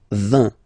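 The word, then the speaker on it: vingt: And the last one, so this G letter is here, but you don't pronounce it, okay? And then final T doesn't exist phonetically either, so basically you will only need to pronounce these 3 letters, so you get V,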